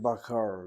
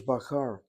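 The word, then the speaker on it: בָּקָר: shva na when you shift your syllables or shift the accent. Let me double check that word bakar.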